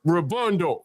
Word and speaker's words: robando: Yeah, robando. You roll the R a little bit.